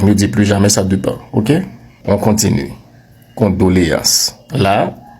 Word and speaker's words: dépend: Non non, le verbe c'est dépendre. Et le mot dépend vient du verbe dépendre. Donc on ne dit pas ça dépend. On dit ça dépend.